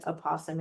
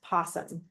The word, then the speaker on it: opossum: This is called Why Opossum Has a Bare Tail. Do you guys know what a opossum is, by the way? And sometimes it's pronounced possum or opossum. I've heard it both ways.